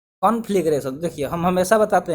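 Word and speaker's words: conflagration: तो देखिए, कॉन्फ्लेग, यहाँ तक आप इसको याद रख दीजिए कि कॉन्फ्लेग फिर रेशन, ठीक है, कॉन्फ्लेग्रेशन, इस तरह आप इसको प्रोनाउंस कर सकते हैं इजीली।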